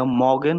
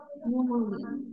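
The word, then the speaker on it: mögen: ইন উচ্চারণ করছেন, এটা মগেন হবে না? না, ইউমলাট, ইউমলাটের উচ্চারণটা কিভাবে হবে বলেন? এটা তো ও, ও, মিউগেন, ও মিউগেন। umlaut।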